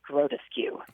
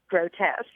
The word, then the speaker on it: grotesque: looked at it and I huddly replied oh that is grotus skue not realizing that the word was actually pronounced grotesque oh no I think